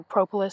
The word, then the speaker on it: propolis: I was at first, but bees make a substance called propolis, or propolis, some people pronounce it.